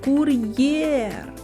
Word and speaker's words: кур'єр: а складів два склади визначимо куди падає наголос покличемо кур'єр кур'єр наголос падає на звук е наступне слово комп'ютер запишемо